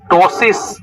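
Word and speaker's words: ptosis: हुआ क्वेश्चन ये देखो टसिस प साइलेंट है टसिस क्या लिखा हुआ है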